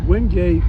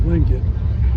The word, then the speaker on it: Wingate: Well, what I always said was, if you call it Wingate or Wingate, both are correct.